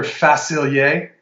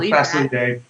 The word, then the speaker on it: Facilier: Facilier from the Frog. Okay. You like that French pronunciation?